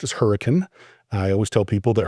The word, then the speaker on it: Hurricane: called Hurricane, and that is the way it's pronounced as Hurricane.